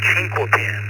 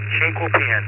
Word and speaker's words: Chinquapin: Good evening, and once again, you have pronounced it correct. Chinquapin. Chinquapin, that is correct.